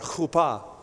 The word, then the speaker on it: chuppah: No, say it like that, chuppah.